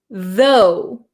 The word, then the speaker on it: though: word you have is though zo so there's no R sound right zo you have a strong th sound VV so it makes